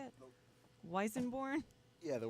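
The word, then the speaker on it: Weissenborn: the one that you were sound checking on, is that the Weisenborn? Is that how you say it? Weisenborn? Yeah, the Weisenborn.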